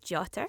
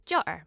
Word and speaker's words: jotter: I can pronounce it as jotter with a T in the middle, or as jotter with a glottal stop in the middle.